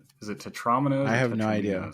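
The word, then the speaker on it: tetromino: I also want to just point out that according to this etymology here, Tetra 4 and Domino, so Tetramino is the correct pronunciation.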